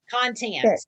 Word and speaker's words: content: accent on the second syllable, content.